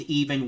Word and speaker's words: Evan: Like, he's literally named Even Weirder Wally, which is spelled like Evan, but it's pronounced Even.